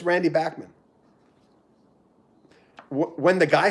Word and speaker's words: Bachman: he doesn't mind if people say bachmann because bachmann sounds better you know everyone in the 70s said bachmann turner overdrive but it's backman and i've talked to